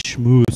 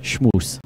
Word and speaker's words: Schmoose: yesterday that it was schmooze. Oh, shame on you, Mike. Out in Denver, Just it rhymes with moose.